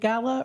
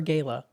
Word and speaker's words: gala: Is it gala or gala? Well, I say gala because my Spanish is my mother tongue, okay. but I think both are accepted.